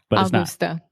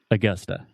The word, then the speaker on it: Augusta: and this is Augusta so we're talking about the schwa sound so most Brazilians will see this word and they want to say Augusta it's Augusta so say Augusta one more time Augusta Augusta awesome I'm gonna visit Augusta this summer Augusta Augusta and it's not Augusta Augusta Augusta yeah so you have two schwa the uh uh Augusta